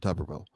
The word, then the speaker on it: Tuberville: coach well I mean I always heard it said tuberville when he was coaching so ah I think there's only one b in it but I think to pronounce it tuberville he's of course he's